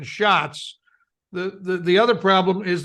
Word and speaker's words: Schatz: has so has uh Senator Schwartz shots um and so um look isn't just that uh Jean-Pierre butchered the names of the Senators that's Senator Maisie hirono and Senator Brian Schatz the the other problem